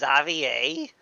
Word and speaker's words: Xavier: back in Fon now it's pronounced zavier is is it cuz he's fanian it has to be French sounding is that xavor okay well fine I hope